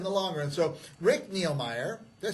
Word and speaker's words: Nilmeier: So Rick Nilmeier, did I say it right? Yes, sir. Rick Nilmeier.